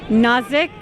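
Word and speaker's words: Nazek: Nazik Maru. Spell it.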